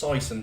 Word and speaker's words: Sison: it's off the screen oh it's pronounced Sison by the way my apologies this is